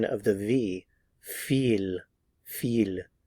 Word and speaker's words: wie viel: the pronunciation of the w V and the pronunciation of the V feel feel V how many V Vila again notice